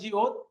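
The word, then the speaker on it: 지읒: তারপরে এটা হলো জিউত। জিউতের উচ্চারণ বর্গের জ, আর নিচে বসলে হবে ত। এটা হলো ছিউত।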